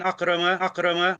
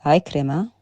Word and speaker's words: Ikrima: And he mentions here, what do you call it, about a hadith from an Akrama. It's Ikrima.